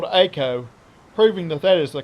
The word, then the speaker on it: Eiko: If you've been saying Eiko, then you've been saying her name wrong, because she appears in the game World of Final Fantasy, where she is called Eiko, proving that that is the correct way to say her name.